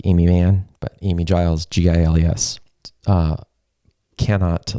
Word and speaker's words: Giles: reach out to amy she's amazing her name is spelled a-i-m-e-e like amy mann but amy giles g-i-l-e-s uh cannot like recommend her enough so